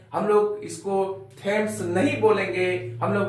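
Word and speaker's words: Thomas: पूर्वक सुनेंगे हम लोग थॉमस थॉमस कभी भी नहीं बोलेंगे हम लोग इसको बोलेंगे थॉमस थॉमस थॉमस का उच्चारण यहां पर थॉमस होता है जैसे हम लोग ने सुना है थॉमस एडिसन एक वैज्ञानिक का नाम है हम लोग थॉमस बोलते हैं नहीं इसमें एट साइलेंट है नंबर सेवन में पढ़ेंगे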